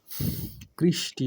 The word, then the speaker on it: কৃষ্টি: কৃষ plus তি কৃষ্টি কৃষ্টির উচ্চারণটা হবে কৃষ প্লাস তি কৃষটি আমার জরজর লাগছে।